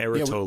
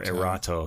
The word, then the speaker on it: Erato: On the Erato label. Yeah. Yeah, we liked these a lot, if I remember. And, or Erato. You can pronounce it either way.